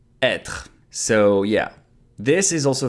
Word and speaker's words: être: to be pronounced /a/ Être... so yeah, this is also very tricky E with the accent circonflexe Why? Because sometimes it can be pronounced like E accent aigu or sometimes E accent grave Historically, this accent is